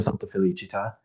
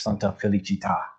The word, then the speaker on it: Santa Felicita: It's a pet peeve of mine to hear people call the church Santa Felicita with an accent on the last syllable, because that accent makes a world of difference. Felicita with the accent means happiness. Felicita without is the name of a Roman saint whose life was far from happy.